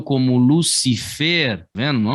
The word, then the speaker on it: Lucifer: Qual é a pronúncia dessa aqui? Lucifer.